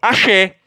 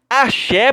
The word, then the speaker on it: axé: verbos esquece mera curiosidade não confunda axe com axé axé pessoal achei aqui ó esse axé eu achei lá do freio da bahia esse achou a ser da dança oaxi é diferente a pronúncia é diferente note que existem três